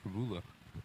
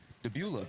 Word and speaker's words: Prebula: I think he likes his name pronounced Jamie Prebula. Prebula? Yeah, Prebula Prebula. over Prebula. Because having multiple conversations with him, he always complains that people say that he's like a relative of, Debula.